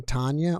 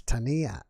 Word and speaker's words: Tania: because you're from panama do you really pronounce your name tanya or do you pronounce it tania yeah yeah i thought so yeah yes tania all right so what's